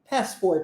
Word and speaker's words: passport: interessante acontece nessa palavra Passport o t não é pronunciado já viu isso ao